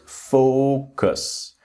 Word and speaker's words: focus: The next word focus. It's very very important with the pronunciation that the first syllable is focus. Not focus. Focus, but it's focus. The strong syllable is the first syllable.